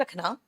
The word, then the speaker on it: row: अब same spelling की भी आ जाए हम लोग, सेम स्पेलिंग में, जैसे ROW, इसको रो कहते हैं, रो एंड कॉलम, और झगड़ा का फसाद को राव कहते हैं।